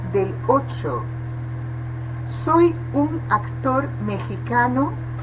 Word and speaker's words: mexicano: Aqui, o X, ele tem a pronúncia aspirada, mexicano. Poderia pronunciar-se mexicano, mas se prefere utilizar a pronúncia meji, como se fosse a pronúncia do argentino, que pronunciamos como Leo Messi, né? Neste caso, ji em vez de G, ok?